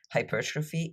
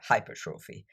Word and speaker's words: hypertrophy: result of a physiological process called hypertrophy or hypertrophy. I personally say hypertrophy, so I'll keep using this pronunciation for the rest of the podcast.